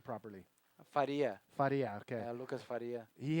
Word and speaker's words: Faria: Currently in second, Lucas Faria, how do you pronounce his last name properly? Faria.